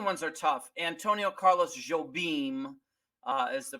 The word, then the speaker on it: Jobim: Antonio Carlos Jobim is the pronunciation for him.